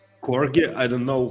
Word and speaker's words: KorGE: and we'll build the thing with help of corgi corgi I don't know how what is the correct way to pronounce it.